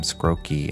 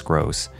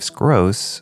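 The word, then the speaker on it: Skroce: was Steve scross and I believe I pronounced his name scoki in the intro but I think it's scoss and Danny Earls were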